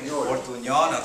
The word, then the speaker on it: Portuñol: Portuñol, okay.